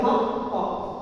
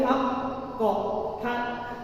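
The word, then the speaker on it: حق: Cara bacanya yakni haqq. Huruf H di sini disempurnakan dulu untuk menyempurnakan tanda tasdid haq, kemudian memantulkan huruf q.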